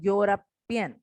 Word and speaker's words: European: You can see that a European word starts with the E, which is a vowel. But when I pronounce it, it is giving again the sound of a consonant, that is Y.